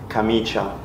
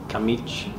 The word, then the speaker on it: camicia: Camiche. No, Camicia. No, no, no.